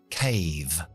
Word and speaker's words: cave: ¿Cómo sé que la A se pronuncia así? Porque tengo la E mágica al final, que hace que la A se pronuncie como en el abecedario, por su nombre, que es A, cave.